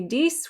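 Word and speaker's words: dix: so when we say dis we pronounce the x just like on cease when it's followed by a noun that starts with a vowel like this one that x makes a z sound dis ons on 11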